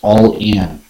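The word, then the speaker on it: ollin: in sacred pre-columbian ceremonies pronounced all in it is an expression of immense depth that conveys intense and immediate movement intense and immediate movement stemming from the ancient water language olin is derived from and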